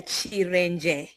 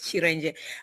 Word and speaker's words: Cerenje: Uh my name is Chir. That's actually how I pronounce it. Yes. Chir.